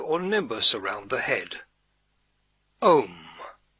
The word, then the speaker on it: Om: the golden halo or nimbus around the head om spelt o m this is known as a word of power